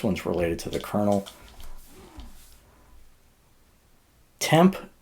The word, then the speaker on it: tmp: related to the kernel temp is or TMP pronounce temp is a file system